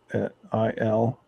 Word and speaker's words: Kurile: It's spelled just Okay. like the Coral Islands. All right. Kurile.